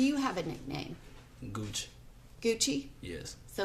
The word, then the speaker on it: Gucci: have a nickname good Gucci yes so like g-u-c-c-i-g-u-x I g u x x i you pronounce it Gucci yeah yeah and you